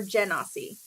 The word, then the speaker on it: Genasi: And Genasi sounds better in the accent, so I'm gonna roll with Genas, with the hard G.